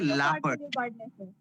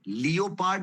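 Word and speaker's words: leopard: और next word है लेपर्ड अच्छा इसको प्रोनाउंस लियोप्ट नहीं करना है सब लोग सुने लियोपार्ट बिल्कुल नहीं करना है इसकी प्रोनाउंसिएशन होती है लेपर्ड लेपर्ड और इसका फेंडर गजाला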